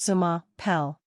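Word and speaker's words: je m'appelle: is pronounced bone zor J mapel means my name is and is pronounced Zuma pel orir means goodbye and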